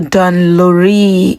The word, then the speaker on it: Dun Laoghaire: Welcome to the trip to Don Luri in Dublin. Tell me why this thing is pronounced as Don.